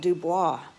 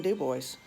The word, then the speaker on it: Dubois: it's called dubois but in louisiana we would call it dubois for our cajun french pronunciation but up there it's just plain dubois there is a really